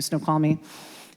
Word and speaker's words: Snoqualmie: I've driven in one weekend from Yakima to Pendleton to up by Snoqualmie, I'm not even going to say it right. Thank you, Snoqualmie.